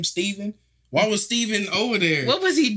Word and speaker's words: Stephen: yeah yeah Stephan dude every time I see it spelled like that I think Stephan instead of Stephen yeah it's Stephen on that want to